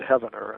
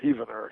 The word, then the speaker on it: Heavener: the 20th century from heaver spelled like heaven I think it's pronounced heaver Oklahoma maybe I've got the pronunciation wrong forgive me if anybody's from there but uh uh once I pronounced it Heavener and somebody told me it's heaver Heavener Oklahoma so there